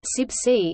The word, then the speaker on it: CIBSE: of building services engineers CIB se pronounced subsea is an international professional